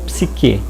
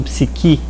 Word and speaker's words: psique: um estudo a respeito do psiquê ou psique como se fala em grego que é a parte